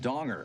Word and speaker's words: Danger: And I'd like to introduce you to Jeffrey Danger. It's actually pronounced donger.